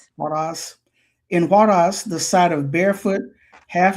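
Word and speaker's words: Huaraz: Am I pronouncing this correctly? Huarez. Huas. Huas. In Huaras, the sight of barefoot half- naked children with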